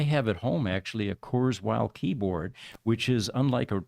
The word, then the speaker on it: Kurzweil: futurist Ray Kurzweil, I think is how you pronounce it. Yeah, Ray Kurzweil.